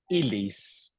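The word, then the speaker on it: illis: Okay, et manducantibus ilis, here's another point, by the way, ilis is pronounced like one L, okay? It's not like in Spanish, again, Elia.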